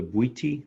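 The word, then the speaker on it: Bwiti: talk about that but on iboga do you pronounce the tribe the booty booty yes yeah so so my understanding is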